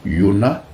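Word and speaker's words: יונה: Jonas en français vient du grec Ionas, qui lui-même est issu du prénom hébreu Yona, mais on dit que en hébreu il est prononcé avec un H muet.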